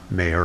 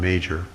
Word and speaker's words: Major: a book published by John Mayor or John Major depending upon your pronunciation John Major produced a